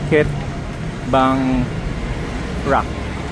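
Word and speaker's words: Khet Bang Rak: How do you pronounce that? Ket Bang Rak.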